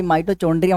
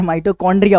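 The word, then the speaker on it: mitochondria: माइटो, भाई माइटोचोंड्रिया मत बोले यार, माइटोकॉन्ड्रिया होता है।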